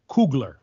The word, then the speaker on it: Coogler: ago i was watching a interview with ryan coogler am i pronouncing it correctly maynard that's correct that's homeboy